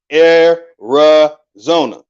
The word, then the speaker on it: Arizona: Buddhist statue is in Arizona properly pronounced Ari Zona now when you go